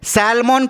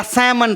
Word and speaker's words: salmon: सैल्मन पढ़ते हैं या सैमन पढ़ते हैं? इसका सही प्रोनाउंसिएशन, करेक्ट प्रोनाउंसिएशन जो है सैमन होगा।